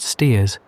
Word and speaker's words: Staithes: Saunderson, a shopkeeper at Staithes, always pronounced Steers, a small fishing town on the Yorkshire coast, about 9 miles to the northward of Whitby.